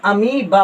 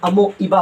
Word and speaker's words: अमीबा: वो कहती है भैया जब भी वो दो वावल एक साथ आए तो वावल के इस वावल के पहले वाला वावल का उसको प्रोनाउंसिएशन में मत लाओ, इसीलिए क्या पढ़ते हैं? अमीबा पढ़ते हैं, ना कि अमोइबा पढ़ते हैं।